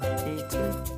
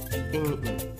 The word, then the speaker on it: eten: In Mooi Nederlands or proper Dutch, you pronounce this verb eten. Eten. Come on, give it a try. Eten. But in West Flemish, they pronounce it a bit differently. Like eten.